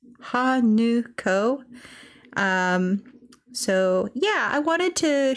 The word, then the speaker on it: Hanako: The N-A, in Hanako is actually pronounced nu, like a nut. So it's Hanuko.